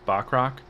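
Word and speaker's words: Bachrach: uh Ebon Moss uh I think it's bachrock is how you pronounce his last name he plays Cubs oh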